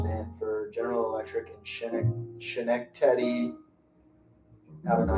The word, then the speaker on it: Schenectady: It's pronounced Schenectady, with the emphasis on the first syllable.